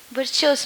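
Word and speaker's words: Virchow: is that Noe called virtuous Noe sir ver is written as CH but pronounced better as show being fresh show not sir ver what is that belonging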